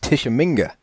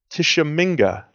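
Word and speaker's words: Tshimanga: Baka batuka um apparently that first name is pronounced tisham MinGa tisham MinGa TS h i m a n g a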